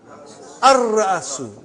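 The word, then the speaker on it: الرأس: How will you pronounce? Ar-Ra'asu. Not Al. Ar-Ra'asu.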